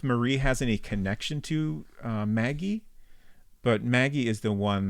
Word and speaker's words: Magui: We learned that Magui is pronounced, like if you're French, you'd say Maggie, but Maggie, basically.